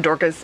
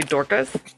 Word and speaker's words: Dorcas: And can we just talk about this name, Dorcas, by the way? Dorcas? It's spelled D-O-R-C-A. She sounds like Orca. It sounds like Dorcas, which is D-O-R-K-U-S.